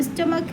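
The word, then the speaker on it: stomach: अब स्टमक है। अब स्टमक हमारे पास सिंगुलर है। अब उच्चारण हमारे पास सी एच का आ रहा है का।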